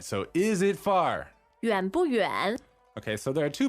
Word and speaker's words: 远: And we say 远不远远不远 Okay, so the word for far is 远 so Y-U-A-N, third tone, Yes. means far, and it's pronounced. 远 All right, so it's not yuan, right?